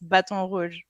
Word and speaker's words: Baton Rouge: So Lido, Louisiana, is it how do you say Baton Rouge? Is it Baton Rouge or is it something else? No, it's Baton Rouge. Okay. If I pronounce it like a French person, it's Baton Rouge.